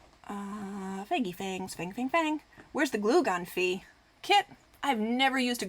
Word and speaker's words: Phoe: call me fee and I usually spell it p-h-o-e and it looks like and not fee and it's it's fine